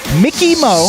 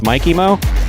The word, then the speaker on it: Mikey Mo: We didn't know if it was Mickey Mo or Mikey Mo, and I happened to see Mike, and I said, hey, how would you like your name pronounced? He said, actually, it's Mikey Mo.